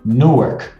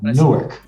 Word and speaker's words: Newark: a cidade se chama no ar a pronúncia às vezes lembra como Nova York mas se chama Newark Você lembra que eu